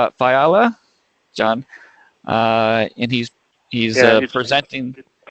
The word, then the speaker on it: Fiala: How do you pronounce your name? Fiala, John.